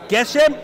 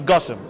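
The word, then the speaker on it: גשם: So he feels that the proper way is to say tol and Geshem, which seems like a contradiction. If it's tol, it should be Gushem. If it's Geshem, it should be tal.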